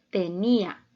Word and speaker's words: tenía: silábico de la palabra tenía es una palabra grave o llana está formada por tres sílabas y la sílaba tónica la tenemos en la en la penúltima sílaba y vemos que son